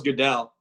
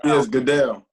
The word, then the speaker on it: Goodell: But what about the NFL Commissioner Roger Goodell? Am I saying his name right? No. I thought it was Goodell. It's Goodell. This tells you how much I know about football.